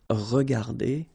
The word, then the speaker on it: regardées: Remember that we don't pronounce them, so you will get phonetically regarder and then here the same form regarder. Okay, so you don't pronounce